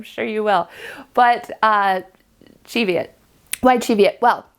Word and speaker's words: Cheviot: in Scotland and I asked someone from Scotland and he said that they say Cheviot I know that some people say Cheviot uh I don't know I'll go with I'll go with the Scottish pronunciation because that's where the Sheep are from I'm not in California